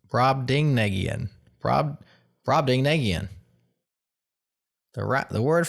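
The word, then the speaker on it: Brobdingnagian: pronounced brad ding negian.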